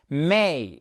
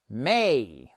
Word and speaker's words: may: Mais et c'est pas mai comme le mois de mai en français et son Muguet, d'accord ? C'était juste pour la rime. Oui, je sais, ce n'est pas drôle. Mais il s'agit bien de may comme great. C'est la même diftong que dans le ea de great may.